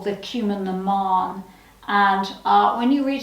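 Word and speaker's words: Cumann na mBan: this incredible uh women's voluntary organization called the cumin naman and uh when you read it in the book you'll see it and it's spelt cumin bon it's pronounced cumin naman um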